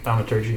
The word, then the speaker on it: Thaumaturgy: Thaumaturgy? Thaumaturgy, yeah.